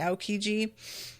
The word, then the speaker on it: Aokiji: That's how you say it, Aokiji.